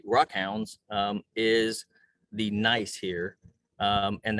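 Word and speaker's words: gneiss: rock hounds is the nice here and that spelled g-n-e-i-s-s pronounced nice um it is very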